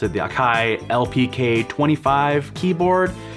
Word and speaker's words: Akai: i bought the akai which is how you pronounce it the akai lpk25 keyboard it's been great um yeah i